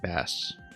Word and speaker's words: bass: fish of course is pronounced bass as opposed to the instrument or the cleff which